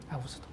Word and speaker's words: 아구스도: 이제 그건 영어식 발음이고 우리 개역 성경에 번역된 데는 아구스도라고 그럽니다. 아구스도.